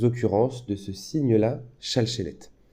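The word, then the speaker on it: שַׁלְשֶׁלֶת: occurrences de ce signe-là, shalchelet. En rite séfarade, il se prononce à peu près comme ça, shalchelet. Et en rite ashkénaze, c'est plutôt comme ça, voilà.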